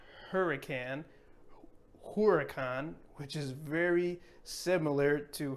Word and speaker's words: huracán: Next, we have hurricane in English, and in Spanish, we're going to say huracán, huracán, and not hurricane, huracán, which is very similar to hurricane.